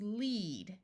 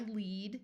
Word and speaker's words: lead: read a book yesterday this word with a long e sound is lead to guide or be in charge of like I lead the class to the cafeteria with the short e sound we have lead which is a type